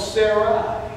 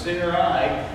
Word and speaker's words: Sarai: Her name at first was called Sarai. And so if you look that up, that's how it's pronounced. I looked it up 3 times. Sarai, and which means noble and good.